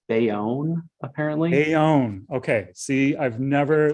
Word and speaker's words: Bayonne: things in the chat so jennifer has a pronunciation note it's bayonne apparently okay see i've never lived in the